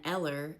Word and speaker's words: Ella: And Eller instead of Ella.